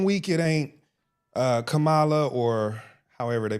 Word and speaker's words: Kamala: 1 week it ain't Kamala or however they pronounce it. I think they say Kamala. Anyway, we just say Kamala. Kamala. But, No. Kamala. It's Kamala. Kamala. Okay. Yeah. So not like camel, Kamala.